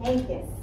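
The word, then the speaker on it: Henkes: Say Hankus.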